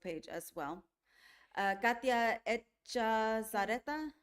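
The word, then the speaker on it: Echazarreta: Uh, Katya Zareta. Sareta.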